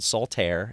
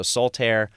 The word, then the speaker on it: Saltaire: uh by the way the book is called Saltair am I pronouncing that right yes you are okay so soltair and I looked it up because I wanted